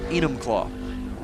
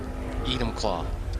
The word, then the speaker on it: Enumclaw: How do you pronounce that name? Which name? Enumclaw. Enumclaw. Enumclaw.